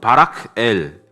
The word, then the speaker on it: 바라겔: 이것을 잘 나누어 읽어보면 바락엘, 빨리 읽어보면 바락엘로 발음할 수 있죠.